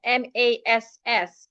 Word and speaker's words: mass: The first word here, an average Ghanaian will pronounce it as maths, M-A-T-H, maths, as if you're pronouncing M-A-T. The second word here, M-A-S-S, mass.